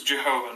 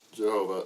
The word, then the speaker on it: Jehovah: So it's the tetetrogrammaton but it has but the you know y is pronounced with a j sound in German and a lot of early Christian scholarly research was in German.